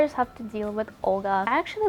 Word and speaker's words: Olga: I think Olga sounds so harsh. If you were to pronounce my name in Russian, you'd actually say Olga with a very soft L.